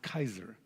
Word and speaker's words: Caesar: the way to H Caesar Caesar was a socialist by the way have you ever wondered how you pronounce Caesar the word is pronounced Kaiser ever recognize the Kaiser